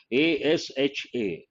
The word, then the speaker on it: ASHA: don't pronounce every letter here we don't say a s h a we simply say asha asha workers asha pronounced as a word then it is called